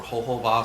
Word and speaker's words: jojoba: But some people will actually use jojoba or jojoba, some people pronounce it, for the face because it's a paraffin-based oil.